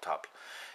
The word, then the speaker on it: tafl: of top which is tafl it's an old norse uh game the old norse pronunciation of the game is called top and there's different versions